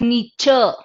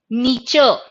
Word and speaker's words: Nietzsche: It's not pronounced as Nietzsche, it is pronounced as Nietzsche. Nietzsche.